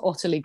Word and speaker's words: Ottilie: oq service course so oq my name is otterlee quince so it is a tricky one to pronounce my mum and dad obviously hated me